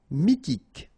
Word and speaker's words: mythique: Remember, Q-U at the end, K, okay, and then Y is pronounced like I. Mi, H is not pronounced. T, K. Mythique.